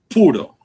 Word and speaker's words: puro: Now pur spe like a Cuban cigars they they're not pur neither pur which is called pronounced puro in Spanish means a cigar puro p u r o that's how it's pronounced